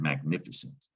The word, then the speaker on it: magnificent: niff is that thick no that's scent that c is soft yeah this is the word magnificent magnificent is a word that goes back to old french magnificent it's where that soft sea and scent comes from french we have that a